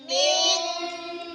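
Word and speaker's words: مِنْ: মিং, মিন নুন second আসছে না, এই নুন সেকেন্ডটা গোপন হয়ে যাবে, বাংলা অনুষ্ঠানের মতন উচ্চারণ হবে, বলে মিং।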